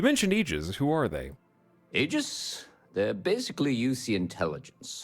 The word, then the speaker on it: Aegis: a package left and it's pronounced Aegis they need UC security